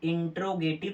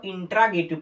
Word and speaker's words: interrogative: लिखा हुआ है, INTERROGATIV, इंट्रोगेटिव सेंटेंस। कुछ बच्चा इसको इंट्रागेटिव पढ़ देते ना, इंट्रा नहीं है मेरे भाई, अगर आप प्रोनाउंसिएशन गलत करोगे तब तो गड़बड़ है। ये इंट्रागेटिव नहीं है, ये इंट्रोगेटिव है।